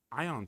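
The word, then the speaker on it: Aion: I think uh Ion 2.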